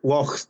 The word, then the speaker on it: loch: Like lochs, there's lochs everywhere, so it's like a lake, but pronounce it loch, you know.